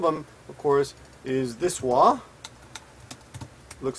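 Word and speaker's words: は: One of them, of course, is this wa. Looks like this. And the other one is this, which can be pronounced ha, or can be pronounced ha. This is either pronounced ha or wa.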